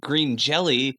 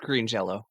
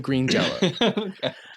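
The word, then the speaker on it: Green Jellÿ: the band is pronounced green jelly um yeah but this guy spells a lot of stuff wrong uh oh wait no no it's spelled green jelly but pronounced green jello that was it don't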